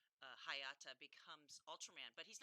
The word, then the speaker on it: Hayata: So the character, his name is Hayata, Hayata. and he is part of the space patrol that is there to protect Japan from monsters that attack. And I forget the story completely of how Hayata becomes Ultraman, but he's not always Ultraman.